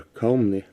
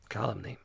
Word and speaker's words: calumny: The king, well perceiving their calumny, suddenly Calumny. That's how you pronounce it.